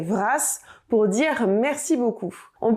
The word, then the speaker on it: vras: Si on veut dire merci beaucoup à plusieurs endroits, on pourra l'accompagner de brasse, mais attention, celui-ci mute. On dira donc trugaré vras pour dire merci beaucoup.